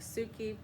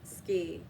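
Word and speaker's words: 好き: They have uh dye and and ski, but it says it looks like suki, but it's ski pronounced in Japanese.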